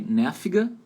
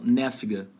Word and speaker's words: nervig: Tá aí, nerviga. Então, nerviga. Esse adjetivo aí tem a letra V, né? V de vaca. Só que você vai pronunciar como se fosse um F de faca. Então, nerviga, nerviga.